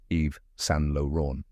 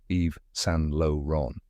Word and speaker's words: Yves Saint Laurent: sound at the end next is s which sounds like s with a soft n not saint like in English and finally Lan with a nasal French R and a silent T now say it with me Eve San Lon one more time Eve